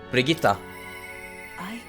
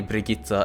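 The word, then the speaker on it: Brigitta: That's just how I'm used to saying it because uh ostensibly I see Briita as a Swedish name. So I'm going to pronounce it So I'm going to pronounce it the Swedish way as well.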